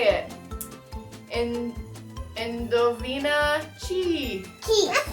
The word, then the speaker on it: chi: Key. Key. Good job, Alexa. Key. Because just C alone makes ch, but CH makes k.